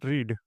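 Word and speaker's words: read: रीड का second form रेड होता है लेकिन दोनों का स्पेलिंग दोनों का जो स्पेलिंग रहता है वो हमेशा सेम रहता है। तो इसका इंग्लिश ट्रांसलेशन देखते हैं। आई रेड a book. यहां पे यह रीड नहीं है।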